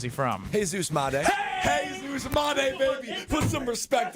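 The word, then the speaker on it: Jesús: What is his name pronounced properly? And where is he from? Hey Jesus Mday. Hey Zeus Mday, baby.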